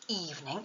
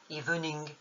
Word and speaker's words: evening: Dans evening, il faut mettre l'accent tonique sur la première syllabe, evening, et non pas sur la dernière, comme le ferait un nom en français, evening.